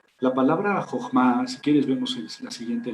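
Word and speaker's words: חכמה: Pero recuerden que la H en inglés y en alemán se pronuncia J. Entonces, la pronunciación correcta es Jochma.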